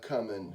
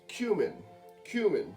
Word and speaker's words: cumin: hell just happened that was a lot of cuming just went in there cuz the damn thing with holes is gone oh it's not oh uh this just didn't apparently it's pronounced cumin cumin so we just put a lot of cumin